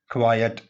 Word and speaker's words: quiet: QUIET इसको हम miss pronounce करते हैं, इसको पढ़ा जाना चाहिए क्वाइट। QUIET क्वाइट और इसका मानी है खामोश। तो आइंदा से आपने QUITE को क्वाइट पढ़ना है, जबकि QUIET को क्वाइट पढ़ा जाता है, जिसका मानी होता है खामोश।